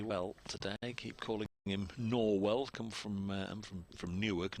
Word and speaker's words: Norwell: the next Villages is a place spelled exactly the same but it's norl you know it is it is you know it pronounced as as norl so um every time